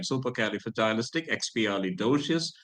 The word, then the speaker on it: supercalifragilisticexpialidocious: Supercalifragilisticexpialidocious, which means that something is wonderful, something is more than wonderful, something that is extraordinarily beautiful, wonderful, super, astonishing, astounding, awesome.